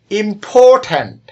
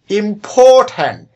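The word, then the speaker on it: important: আরেকটু লক্ষ্য করি, ইম্পর্ট্যান্ট শব্দটিতে 3টি সিলেবল আছে, যেমন ইম্পর্ট্যান্ট। 3টি সিলেবল এর মধ্যে মাঝখানে যে সিলেবলটি আছে এটির উপর বেশি জোর দেওয়া হয়েছে। উচ্চারণটি আরেকটু লক্ষ্য করি, ইম্পর্ট্যান্ট, ইম্পর্ট্যান্ট। এই যে উচ্চারণ করার সময় মাঝখানের যে সিলেবলটি এটির উপর আমরা বেশি জোর দিচ্ছি বা চাপ দিচ্ছি, এটাই হলো স্ট্রেসড সিলেবল।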